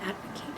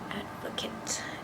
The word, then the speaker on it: advocate: afford advocate verb it's in its noun form advocate is pronounced differently advocate and means one who